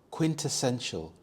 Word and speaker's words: quintessential: figure out its meaning quintessential quintessential the stress is on the second syllable test quintessential this means the most